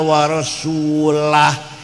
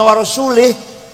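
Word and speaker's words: وَرَسُولُهُ: Zaman Baghdad Abbasiyah ada orang baca Quran salah waallahum Allah tidak melindungi orang musyrik dan tidak melindungi Rasulullah salah yang benar bacanya wa annallaha barium Minal musyrikina wa rasulah Allah tidak melindungi orang musyrik dan Rasulullah pun tidak melindungi orang musyrik Jadi kalau baca warasulih Allah tidak melindungi orang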